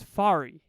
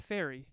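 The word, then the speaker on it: Farry: is my name is fari not fairy not like not like that my name is fari fari here I'll spell it for you f a r r y English teachers take note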